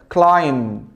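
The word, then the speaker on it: climb: كلاين وخد المعلومه دي كل ما تلاقي حرف الام مع حرف البي حرف البي ها البي مش البي لا البي ام مع البي زي ما مكتوب في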